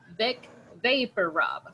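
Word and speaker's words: Vicks VapoRub: that in Spanish and in English we usually say Vic Vapor Rob so names pronunciation of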